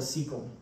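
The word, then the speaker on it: cecum: of the so the is called the sequel this first area is spelled with a c sequel um but the appendix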